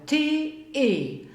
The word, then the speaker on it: T: T im Großbuchstaben, T im Kleinbuchstaben, T in der Aussprache, T-E. Auch wieder kein eigener Tonfall, von daher T-E. Die Aussprache in Deutsch ist T, T.